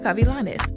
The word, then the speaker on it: Gavilanes: worker and psychotherapist Monica cavilanes lmsw yup I love how you say my name very nice thank you I try to give it just enough Spanish if you notice when